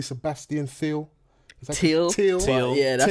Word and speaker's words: Thiel: Am I pronouncing your name correctly? Sebastian Thiel. Thiel. Yeah, that's Thiel.